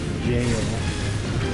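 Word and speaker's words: gaol: Whatever, it's called something jail. But it's spelled G-A-O-L.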